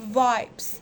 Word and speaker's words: vibes: هي بتتقال كده vibes.